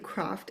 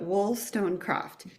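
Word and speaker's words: Wollstonecraft: Um, her name is Tina Wilston Croft. and I always say it wrong and I stumble, but Wool Stonecraft and um I just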